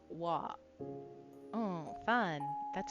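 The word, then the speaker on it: は: Oh, so it is ha, but you pronounce it as a wa.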